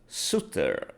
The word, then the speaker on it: Soutter: Soutter. Am I pronouncing that right?